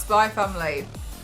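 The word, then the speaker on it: Spy × Family: Spy, it's pronounced Spy Family.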